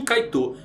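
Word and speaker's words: Kite: pedra energética chamada Jin kaitou pegou aí jinit o nome de kait escreve como quité mas se pronuncia kaitou tá bom galera então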